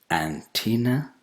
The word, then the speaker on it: antenna: ANTENNA. I'm sure you know what it is, but is it antenna? No, it's antenna. Antenna. The second vowel sound is not E, it's A.